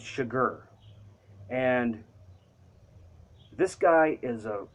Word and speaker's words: Chigurh: I think that's how you say it, because everybody in the book kind of jokes and says sugar, but it's Chigurh.